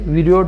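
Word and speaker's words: viroid: देखिए वीरियोड भी बोलते हैं इसे, कुछ इंग्लिश प्रोनाउंसिएशन के अकॉर्डिंग थोड़ा सा फर्क आ जाता है, बाकी वायरोइड सिंपल सा।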